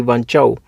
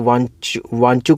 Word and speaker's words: वांचू: The chairmanship of Shri वांचाऊ। तो कुछ लोग इसको वांचू कमेटी भी कह देते हैं, कुछ लोग वांचाऊ भी कह देते हैं। तो प्रोनाउंसिएशन वांचू करके है इसकी।